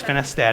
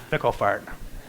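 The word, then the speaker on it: Finstad: pronounce finstead I said it's finstead it's not fickle fart I said well what'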